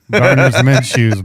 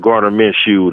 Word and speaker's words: Gardner Minshew: Gardner's Minshew's, bro. I know we're saying it wrong, but I'm gonna continue saying that because it's fucking funny. There's no way they give Gardner Minshew the rookie of the